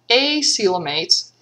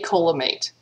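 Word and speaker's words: acoelomate: and they are called acelamates and i have seen in a few places where people suggest that you pronounce because normally we pronounce this the c and coelom like an s silum and they suggest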